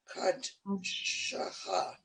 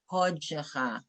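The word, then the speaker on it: קודשך: Now, that's an exception because the word Kodesh, with words involving holy, that's when we have that aw sound instead of ah. So it would be V'Shabbat Kodshecha.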